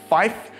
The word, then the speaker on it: five: So numbers like five becomes fife, seven becomes seven, nine becomes niner, and we always say zero, we don't say O or naught.